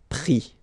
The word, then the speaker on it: pris: And then prendre, so E-N-D-R-E, will give I-S, pris, okay. Same thing here, you don't pronounce the final S, okay.